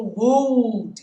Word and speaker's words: would: Só antes da gente seguir, um detalhe, a pronúncia dessa palavrinha, assim como deveria, poderia, o L é mudo, tá, guys? Não tem o would, should, né?